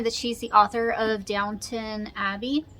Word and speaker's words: Downton: So I picked up The Mitford Murders by Jessica Fellows, and it says on here that she's the author of Downton Abbey. Downton?